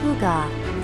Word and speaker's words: hygge: Pronounced hygge, this philosophy encapsulates a cozy, warm state of being.